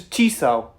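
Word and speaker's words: Chisso: Okay, so the pronunciation is Chryso.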